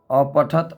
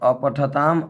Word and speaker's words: अपठः: फिर लंग लकार में अपठत अपठताम, अपठन अपठः अपठतम अपठत, अपठम अपठाव अपठाम। दोस्तों ये जो विसर्ग दिख रहा है संस्कृत में, इसका उच्चारण ह करेंगे, अपठ नहीं बोल सकते हैं, अपठः।